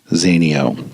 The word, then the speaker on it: Zinio: meaning to ask him how to actually pronounce his last name it's actually Zinio so crazy Mikey Zinio